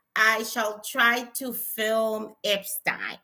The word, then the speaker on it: Epstein: Tomorrow I shall try to film Epstein. Epstein. I got to pronounce Epstein the way I I was taught to in my British education.